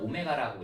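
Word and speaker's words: ω: 자, 뭘 할 거냐면 x세제곱은 1의 한 허근을 자, 더블처럼 쓰지만 오메가라고 읽어.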